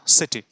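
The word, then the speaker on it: city: सिटी, तो उसका उच्चारण कीटी नहीं होता है, सिटी होता है, एस।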